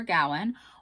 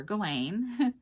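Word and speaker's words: Gawain: and that is Sir Gowan or sir gain it's pronounced either way and I go back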